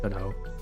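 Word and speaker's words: Godot: Maybe I could use Godo. Go do however you guys want to pronounce it. I'm pretty sure it's pronounced GDO, but I'm I'm just comfortable with Game Maker.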